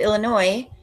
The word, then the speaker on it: Illinois: again you don't have to go back to Illinois no s we don't pronounce Fargo we don't for know us it's